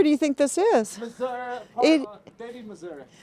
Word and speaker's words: Missouri: See, I would pronounce it Missouri, but from what I understand, it's pronounced Missouri.